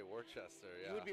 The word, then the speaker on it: Worcester: I would say Worcester. Yeah. You would be wrong, my guy. Dorchester. You guys can't see it because it's Dorchester. Glaring. That's pronounced Worcester. One more time. That's pronounced Worcester. Worcester.